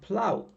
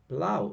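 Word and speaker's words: plough: propelled propelled okay now plow remember here a lot of times g h is pronounced like f you see laughs cough but not always here we have plow plow so the last sound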